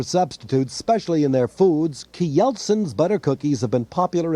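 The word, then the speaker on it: Kjeldsens: s e n s k yeltsin's that's the way you pronounce it the way the danes do key yeltsin's the best butter cookies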